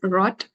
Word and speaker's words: rot: little practice on this never try to uh pronounce German r as English it it is not a good way of pronunciation it is is not rot rot or FR is a bad pronunciation actually it is rot point okay so do